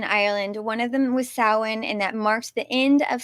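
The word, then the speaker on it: Samhain: 2,000 years ago um and they called it saan if you look at the spelling of the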